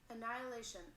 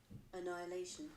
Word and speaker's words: annihilation: and you'll see this blue is the british and the pink is the american english annihilation annihilation or annihilation annihilation not too different they're actually in the pronunciation just a little bit of a different tone in those two accents um so thank you